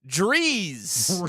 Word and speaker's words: Drees: spoke The Joker spring his name rhymes with Drew Breeze the winner is Rick Drees Rick nice what are